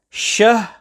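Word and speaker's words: شَهْر: So the correct pronunciation and recitation is shahr, with a clear separation between shahr and the ra upon which waqf is being done.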